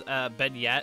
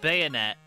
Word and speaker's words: beignet: It's beignet, as like the French donut. That's what it means, right? But I said bayonet, which is just me being stupid.